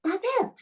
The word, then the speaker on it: Babette: teacher said you've already got a French name B bet and I was like is that how you